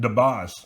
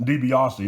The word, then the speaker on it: DiBiase: he was referring to him as uh ted debase and i'm thinking somebody needs to tell this guy it's pronounced dibiase not tobias didn't really get to uh to talk to